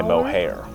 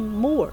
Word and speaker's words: Moher: to call it but last time I looked it up it said more do not pronounce the h so I'm calling it